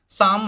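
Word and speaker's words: psalm: तो यहाँ पे एम से पहले का एल है उसको क्या कर दिया इन्होंने, साइलेंट कर दिया। ऊपर भी एक वर्ड था साम, हमने बोला था तो पी एस ए एल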